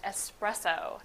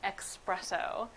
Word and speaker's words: espresso: explain to people that the proper pronunciation is espresso and not expresso so espresso is actually